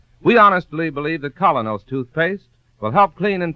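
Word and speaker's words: Kolynos: We honestly believe that Colonos toothpaste will help clean and polish teeth more effectively, safely, beautifully.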